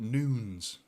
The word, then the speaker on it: Nunes: Apparently Nunes is pronounced Noons.